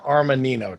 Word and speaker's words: Armanino: You work for Armanino.